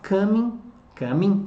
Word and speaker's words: coming: They're not coming, sem pronunciar o G, they're coming tonight because they're in troubles.